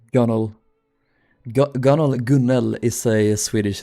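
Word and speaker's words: gunwale: I'll never forgive the person who decided gun whale should be pronounced gunnel.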